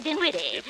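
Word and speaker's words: Dinwiddie: what for missus henrietta didn't witty with an ear not an m and the accent on the witty not on the din what do you want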